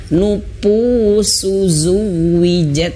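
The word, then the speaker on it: نفوس: ya perlu dibiasain karena huruf Fa di sini jangan sampai kita bacanya PU ya Nufus ya karena termasuk saya dulu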